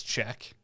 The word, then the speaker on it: Czech: become czech yeah because that's how you'd pronounce check you know we just cut it off at check because we're english so